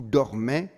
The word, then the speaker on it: dorment: they're pronouncing them, is just do not pronounce that ENT in the last ones every single time. They are never, ever pronounced. So that ENT is completely silent. Il porte, il dorme. And you stop there.